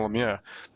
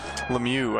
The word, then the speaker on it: Lemieux: 80s you'll see uh the canadian broadcast was calling him lamia but in later broadcasts they do call him lemieux i think they kind